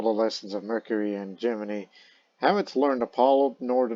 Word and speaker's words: Gemini: One is for the Mercury pilot, and the other is the Gemini pilot, or is what NASA calls it, Gemini, as the official pronunciation as such.